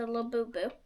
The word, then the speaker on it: Labubu: It's a Labubu.